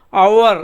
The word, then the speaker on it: hour: அதே மாதிரி ஹவரை HOUR, ஹவரை அவர் அப்படிமோ. நம்ம ப்ரொனவுன்ஸ் பண்ணும்போது அவர், ஆனஸ்ட் அப்படிமோ.